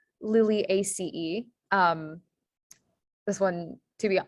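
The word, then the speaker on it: Liliaceae: so first word is latin um and it's pronounced lily ace um this one to be is a little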